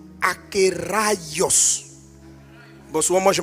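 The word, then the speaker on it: ἀκέραιος: Donc on prononce akios. Bon souvent moi je m' je me trompe, je dis akéos.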